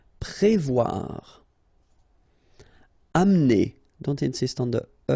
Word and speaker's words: Prévoir: Prévoir. Okay, remember O and E together, you will get the sound wa, wa, wa, wa. Voir here, and then pré. Prévoir.